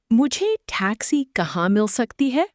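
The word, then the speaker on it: मुझे टैक्सी कहाँ मिल सकती है: Pronounce it, moo jay tack see ka hahn mill suck tee hay.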